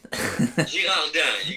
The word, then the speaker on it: Girardin: Yeah, so Girardin. Girardin, you got it. So Girardin. can I say Girardin, or is that just No, not? that would be a faux pas. Girardin.